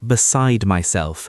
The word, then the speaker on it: beside myself: Pronunciation-wise, it often sounds like beside myself. The D softens, almost disappears. Try saying, "I was beside myself."